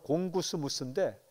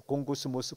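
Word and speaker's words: γογγυσμός: 원망이라는 건요, 헬라어로 공구스무스인데 우리말로 번역하면 궁시렁거리는 거, 발음이 비슷해요. 공구스무스, 궁시렁, 궁시렁. 이게 발음이 비슷해요.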